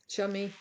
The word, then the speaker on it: Xiaomi: Kate, Xiaomi, Xiaomi.